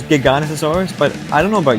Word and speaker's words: Giganotosaurus: I personally pronounce it as Giganotosaurus, but I don't know about you guys, so yeah.